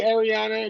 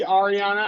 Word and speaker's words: Ariana: after the shore yeah so it could be Ariana it could be Ariana I've heard both so it's a name